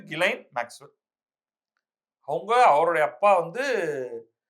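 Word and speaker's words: Ghislaine: பேரு கிளைன் ஆனா அது வந்து ஜிஹச்ஐ எஸ்ன்னு மத்த கிஸ் லைன் அப்படின்னு எல்லாம் அடிக்க வேண்டியதா இருக்கும். அந்த அம்மா பேரு உச்சரிப்பு வந்து கிலைன் மேக்ஸ்வெல் அவங்க அவருடைய அப்பா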